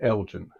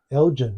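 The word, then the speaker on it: Elgin: h near Chicago y I think they pronounce it Elgen Elgen right um yeah so we've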